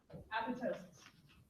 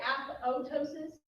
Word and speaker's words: apoptosis: You're going to see this pronounced three ways. I say apoptosis. It's just the way my training went. And I skip the second P.